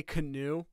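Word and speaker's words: Kanu: class kyle yes canoe i know you like you don't want to say canoe like it's like the boat but it's it literally is just pronounced like the boat okay hero canoe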